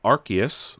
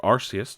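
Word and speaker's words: Arceus: suggesting that Pokemon Legends archus or arus depending on how you pronounce it may not be as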